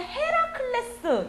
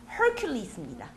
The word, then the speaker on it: Hercules: 자, 요즘 이제 최근에 개봉을 앞두고 있는 헤라클레스 영어로 혹시 아십니까? Hercules입니다.